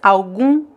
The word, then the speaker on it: algum: So again, don't pronounce the M here, it's algum, algum, without the M sound.